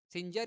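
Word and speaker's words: Singer: सिंजर या सिंगर कुछ भी प्रोनाउंस कर सकते हो इसको।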